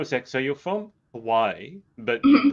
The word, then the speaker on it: Hawaii: am a believer that we need to pronounce it the correct way and give the you know the respect towards that and so with that that's why i always pronounce it hawaii yeah and i'm a